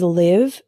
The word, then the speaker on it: live: Another example is live and live. Live with the same I as in sit means to reside.